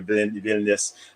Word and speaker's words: Vilnius: Is it Vilnius? Am I pronouncing it right?